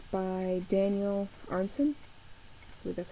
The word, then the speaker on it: Arenson: called song of dragons and it's by daniel arnson i that's how you pronounce it here is the cover oops there